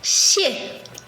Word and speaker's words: 谢: C'est un H mélangé d'un S en mode chuintement.